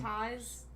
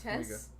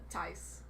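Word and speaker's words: Taissa: It's not said how it's written. She's got an exotic name. Tice. I think it's Tice. Is it Tice Formiga. Tess? Not Tess. Tice. Her sister, Tice. Vera, is Tice.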